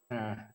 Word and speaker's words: Narh: As a Ghana and Dangme person, I would prefer to be addressed as Nah. Nah. Nah. Yes. Yes, Nah. Nah, because I am a fourth son.